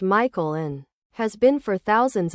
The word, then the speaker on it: Michael: and again this girl was adamant it was pronounced Michelle. Mom, bemused, said something along the lines of, it's literally a name from the Bible. It's pronounced Michael and has been for thousands of years.